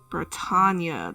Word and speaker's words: Britannia: Britannia. That's how you pronounce it.